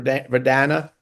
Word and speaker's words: Verdana: it did I say it right Campbell ver verdana verdana veranda verdana verdana and then and then